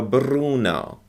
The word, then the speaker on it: Bruno: say the word bruno you see how they roll their r's okay slenzio bruno in english in american